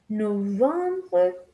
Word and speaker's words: novembre: Septembre, Octobre, Novembre, Décembre. Remember that it's not September, November, December, it's bre.